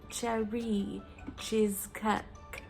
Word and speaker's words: Cherie Cheezcake: way cherry cheesecake um it's meant to be said like with a really terrible french accent like cherry cheesecake i can't do it